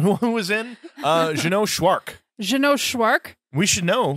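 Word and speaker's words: Szwarc: Jeannot Schwark. We should know. His name rhymes with shark.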